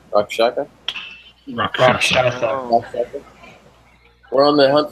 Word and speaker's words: Rakshasa: Rakshaka? Rakshasa.